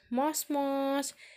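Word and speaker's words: もしもし: Yang pertama ada tulisannya moshi-moshi, tapi dibacanya mos-mos.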